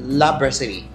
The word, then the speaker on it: La Brasserie: La Brasserie.